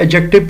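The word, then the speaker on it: adjective: ए डी जे याद रखिए एडजेक्टिव नहीं पढ़ते। ये मैं प्रोनंसिएशन भी यहां पर ठीक कर दूं। एडजेक्टिव लफज़ नहीं होता। डी जरूर है मगर साइलेंट है। एडजेक्टिव पढ़ेंगे इसको पूरा लिख देता हूं।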